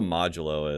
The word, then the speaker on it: modulo: Yeah, I was like, it's Modelo, right? Yeah, it's like Modelo. No, it's modulo, and I'm like, oh shit.